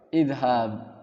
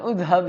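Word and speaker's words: اذهب: Apakah udhab? Idhab. Jangan udhab ya. Loh, kenapa bukan udhab? Saat itu kan ada dhammah kecil.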